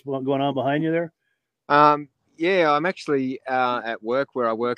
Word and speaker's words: Yea: YEA is but you pronounce it Yea.